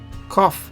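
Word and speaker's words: קוף: sound is sad okay cough Cough is sounds like K but a little bit like Q. Quick C. It is not Q but it's only Q sound. There's no U sound and it's only Q sound. Quick a C sound similar to K.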